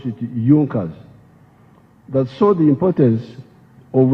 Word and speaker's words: Junkers: However, there was a strong business group in Prussia known as Junkers. It is written Junkers, but they pronounced pronounce it Junkers.